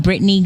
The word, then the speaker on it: Brittane: media Instagram so um Britney so my name is spelled different it's b r i TT a n e that's how you spell